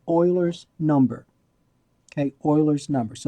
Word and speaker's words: Euler: So E is called Eulers number. Okay, Eulers number. So it's pronounced Euler, not Euler, Euler.